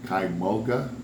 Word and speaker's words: Kymulga: All right, since I ain't got very good pronunciation like Popeye, how you pronounce this place? Kymulga Grist Mill.